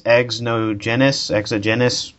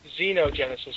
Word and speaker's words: Xenogenesis: Exogenesis. Xenogenesis. Genogenesis. I thought that's what it said. Xenogenesis with a Z.